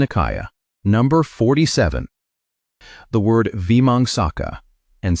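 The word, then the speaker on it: vīmaṃsaka: The word Vimangsaka, and say it like VMHM Saka, means the inquirer, the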